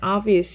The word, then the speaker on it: obvious: obvious의 특징은 뭐냐면 우선 단어가 얘가 O이긴 하지만 약간 R 사운드가 비슷하게 나요. 그래서 약간 발음할 때는 obvious 이렇게 하시고 품사는 형용사입니다.